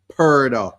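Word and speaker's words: purdah: there is something called perder if anybody wonders why it rhymes with murder here's what it means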